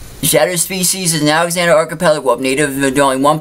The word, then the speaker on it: Alexander Archipelago: to pronounce, but I'm going to correct you on that. Shadow species is an Alexander Archipelago wolf. I'm going to say it one more time. Alexander Archipelago. Archipelago. Shadow species is an Alexander Archipelago wolf, native to only